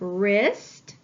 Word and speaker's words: wrist: digraph WR I have wrist wrap Ren I need to underline my ghost letter digraph and cross out my ghost letter because it is silent let's look at the